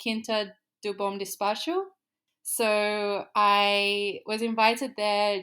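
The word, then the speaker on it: Quinta do Bom Despacho: uh the name of it um to pronounce this correctly, Kinta Dubom Dispatch.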